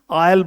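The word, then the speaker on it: aisle: और आयल बोलते हैं, ए आई एस एल ई, आयल बोलते हैं, आयल, एस साइलेंट है मेरे बच्चे वहां पर, ठीक है।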